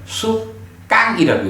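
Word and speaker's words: sukkaṃ: 그 수카라고 할 때는 요 SUKK 다음에 H가 하나 붙어야 돼. 그래서 그건 수카 그래야 되고, 요거는 H가 없기 때문에 수깡이라고 읽거든요.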